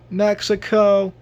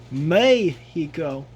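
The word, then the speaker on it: México: for making this mistake if you pronounce it Mexico because that is not how they pronounce it instead they pronounce it may he go may he go so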